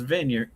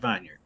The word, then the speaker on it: vineyard: Argue with everyone in the room who was like Preston is vineyard. It's not vineard. No vineard. Look how it's spelled.